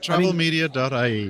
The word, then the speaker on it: TravelMedia.ie: Would that be how you pronounce it, Michael? Yep, that's it. TravelMedia.ie.